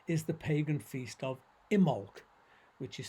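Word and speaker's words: Imbolc: the pagan feast of imolc which is spelled i m b o l c but you don't pronounce the b uh and immo coincides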